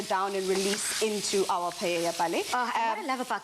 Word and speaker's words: paella: spanish people don't come for me i said paella i corrected myself so interesting because an owl actually is pronounced as a y so you do spell